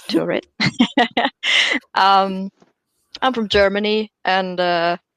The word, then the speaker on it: Turid: So I'm Turid. For everyone who didn't know how to say my name, it's Turid.